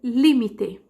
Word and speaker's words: límite: Em espanhol, eu vou dizer límite, até o limite, hasta el límite, certo?